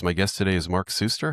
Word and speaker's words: Suster: The AI told me definitively when I asked that your name is pronounced Suster, and it gave me a little pronunciation guide, big S-U-S-S.